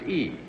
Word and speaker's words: Y: Arlene, the perfume is spelled Y. Yes. But pronounced E. It's pronounced E. The French pronunciation of the letter Y is pronounced E. But I think in America we will be calling it Y, or if you like